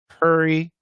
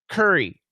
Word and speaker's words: curry: So I'll just say them for you guys. Korea. This is American pronunciation. Korea, Korea, career, career, career, carrier, carrier, carrier, courier, courier, courier, curry, curry, curry.